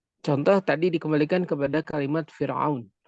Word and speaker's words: فرعون: Contoh tadi dikembalikan kepada kalimat Fir'aun. Fa adalah bukan huruf isti'la. Fa bukan huruf isti'la. Maka dibacanya dengan Fir'aun, maka ra-nya dalam keadaan tipis.